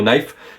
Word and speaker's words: knife: C'est comme pour le mot knife qui veut dire couteau. On ne prononce pas le K qui est avant le N au début du mot.